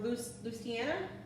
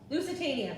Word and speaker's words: Lusitania: it the royal iris lucena or luciana or the titanic lusitania that is not how i pronounced it thank you all